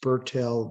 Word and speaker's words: Bertil: in life is artist Bertil Vallien. In fact, when you go to Sweden, they say Bertil because that's how they pronounce Bertil.